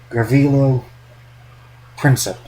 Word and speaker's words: Gavrilo Princip: I always pronounce his name wrong. Gavrilo Princip, I think is how you pronounce it.